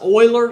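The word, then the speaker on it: Euler: history lesson over here this is pronounced Oiler like the Houston Oilers um in other words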